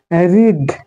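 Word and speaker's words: read: এবার দেখো রিড মানে পড়া, এর পাস্ট ফর্ম হচ্ছে রেড এবং পাস্ট পার্টিসিপেল হচ্ছে রেড। দেখতে কিন্তু রিডের মতোই, কিন্তু এর প্রোনাউন্সিয়েশনটা আলাদা, রিড রেড রেড।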